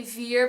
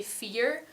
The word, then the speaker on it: vier: most Dutch speakers in some or maybe most words don't really pronounce the V, but they use an F instead. So I would not say vier, but I would say vier.